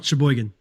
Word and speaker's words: Sheboygan: Sheboygan.